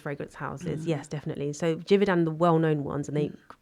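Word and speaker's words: Givaudan: It's one called Rich Earth made by I'm going to pronounce this incorrectly, but Jivodan Jividan.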